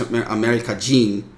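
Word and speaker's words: アメリカ人: Oh, well, so they've got Hito by itself, and that by itself, but America with Hito afterwards is actually pronounced America-jin, and then des.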